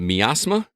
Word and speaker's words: Miasma: Rel, you've been playing a game called, is it Miasma? Am I pronouncing that correctly? I believe it's miasma. Miasma? Like, miasma makes it sound like, okay. Like I'm suffering from miasma.